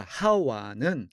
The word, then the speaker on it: 하와: 마지막으로 이브와 하와는 어떻게 다른가? 이브는 하와에 대한 영어식 발음입니다.